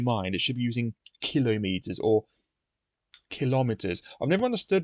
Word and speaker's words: kilometer: on the first syllable so therefore I say that the word kilometer should have the emphasis on the first syllable hence I say kilometer you know so it